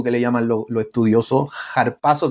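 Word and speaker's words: ἁρπάζω: le llaman los estudiosos harpazo que es como una J como una J harpazo se escribe con Alfa con a pero se pronuncia por por ese espíritu que trae jpaso espíritu simplemente es como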